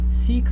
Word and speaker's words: Sikh: I am from the Sikh faith. Hmm. Sikh means a student. A student. Okay. Literal translation means a student. So Now that's spelled S-I-K-H. S-I-K-H.